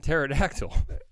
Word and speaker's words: pterodactyl: going from liver King the p is silent like in pterodactyl yeah I think but